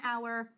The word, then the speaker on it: hour: e a gente vai colocar o an, and hour, and honor, porque no seu hudo. Então, gente, quando você tem ele é mudo, você vai colocar o an, n hour, and honor.